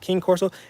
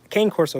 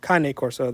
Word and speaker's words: Cane Corso: Chicky says King Corso, Cane Corso, yes, or Cane Corso. That's I guess the Italian pronunciation.